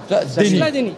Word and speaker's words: Schladini: Alors, fais voir comment ça s'écrit, le Schladin, parce que j'ai du mal à le prononcer. Ah, c'est avec C-H-L-A-D-E-N-I-E. Schladini. Schladini. Deni. Schladini.